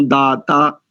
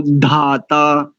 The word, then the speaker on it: धाता: खर्च करना होता है जैसे आपने कहा शन्नो दाता नहीं शन्नो धाता द ध त थ ऐसे ठीक है बस इसका ध्यान दीजिए